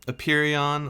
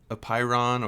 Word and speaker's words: apeiron: called it the i don't know how to pronounce it i should have looked that up before i made this video um a perion or a pyron or a peron it's a-p-e-i-r-o-n that was his name for infinity